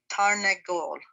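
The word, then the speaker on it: תרנגול: Now this time you have to pronounce the noon, because when you have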